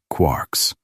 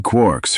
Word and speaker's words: quark: Three quarks for muster mark. While the word was meant to be pronounced like quart, it is more commonly made to rhyme with lark.